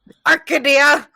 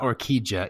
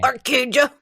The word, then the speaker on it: Orquídea: Orchidea. It's not orquídea either, because that's the Portuguese pronunciation of that word, not the Spanish.